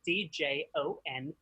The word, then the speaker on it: Djon: So my name, Djon, is spelled D-J-O-N, no I, said like Celine, not like the mustard.